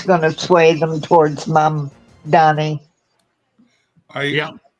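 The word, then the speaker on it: Mamdani: So, I mean, that's going to sway them towards Mom Donnie. Yeah. That second M really messes with the pronunciation. Yeah, it does, doesn't it? Yeah. You keep wanting to make it an N.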